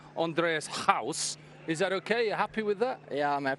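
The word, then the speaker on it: Andries Gous: So, when I'm saying Andreas House, is that okay?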